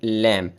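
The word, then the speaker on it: lamb: अच्छा, आपने ये भी याद रखना है कि इसमें बी साइलेंट है, लैम इसको पढ़ना है। इस तरह के अल्फाज जिसके आखिर में एम के बाद बी आता है, जैसे बॉम, टॉम, तो इस तरह बी साइलेंट हो जाता है।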